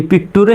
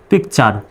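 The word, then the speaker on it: picture: একবার বলছি আমি শব্দের শেষে টি ইউ আর ই থাকলে চার উচ্চারণ হবে যেমন পি আই সি পিক টি ইউ আর ইটা কি পিকটুরে হবে পিকটুরি কিন্তু হবে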